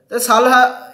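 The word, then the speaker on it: Solih: মোহাম্মদ সলিহ ওকে বন্ধুরা সালহা ইংরেজিতে সালহা উচ্চারণ হবে তাহলে মালদ্বীপের রাষ্ট্রপতির নাম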